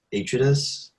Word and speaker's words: Atreides: How do you pronounce that? That's correct. Okay, Harkonnen, and then House Atreides.